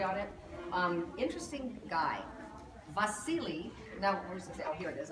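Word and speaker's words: Wassily: silly in sorry but it's pronounced with a V even though it's W because he was Russian born in Moscow wealthy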